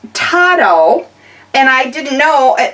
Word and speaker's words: TODO: So, it's pronounced tau. And I didn't know, it looks like to-do to me, but it's pronounced tau because it's a Spanish word for meaning everything.